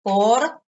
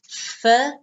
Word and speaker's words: for: car for six months notice pronunciation four no fur for six months for six